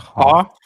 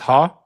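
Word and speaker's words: Haugh: It's It's not Hoff. It's Ha.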